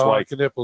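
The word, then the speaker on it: Kon Knueppel: Yeah, Con Knippel was just Con Knippel, is that how you say it?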